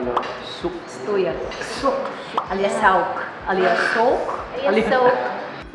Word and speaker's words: Souq: Ito yung pronunciation mo. Souq. Stuya. Sook.